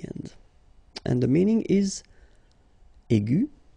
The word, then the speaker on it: aigu: And the first one is aigu. Okay, and then the feminine form will be aigu. So phonetically, it is exactly the same thing.